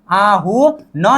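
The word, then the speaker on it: 아흔: यहां पर ठीक है मतलब अ प्लस आ अ प्लस उ आ हु न नीचे आदान पर न का उच्चारण होता है।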